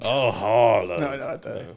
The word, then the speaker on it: Haaland: But staying on sports, though, I heard Haaland's doing bits. Or however the hell you pronounce the Vikings' name.